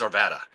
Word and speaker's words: Arvada: They tell you when you mispronounce Arvada, Arvada. I think it's Arvada. When you mispronounce Arvada, they know you're not a local.